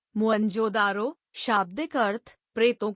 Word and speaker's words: मोहनजोदड़ो: हड़प्पा तथा सिंध का मोहनजोदड़ो मूल उच्चारण मोहनजोदारो शाब्दिक अर्थ प्रेतों का